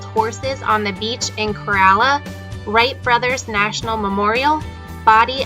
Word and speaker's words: Corolla: Yes, it's actually pronounced Corolla, not Corolla like the car.